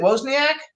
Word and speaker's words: Wozniak: How do you pronounce it? Wozniak?